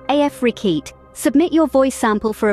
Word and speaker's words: Afrekete: Remember, Afrekete is pronounced Afrekete.